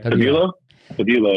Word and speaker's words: Tabilo: So this young guy, how do you pronounce his last name? Alejandro Tabilo? Tabilo? Yeah. Tabilo, yeah.